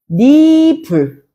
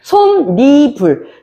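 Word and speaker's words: 솜이불: 그럼 우리가 이거 발음할 때 어떻게 해준다? 솜니불. 그렇지? 솜니불. 이렇게 발음을 해줘.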